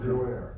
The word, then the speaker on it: Bruer: Bruer, how do you pronounce that? Bruer.